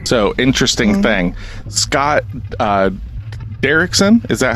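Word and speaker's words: Derrickson: family in danger so interesting thing Scott uh derkson is that how you pronounce his last name oh I did okay cool Scott derkson um this is what I was talking to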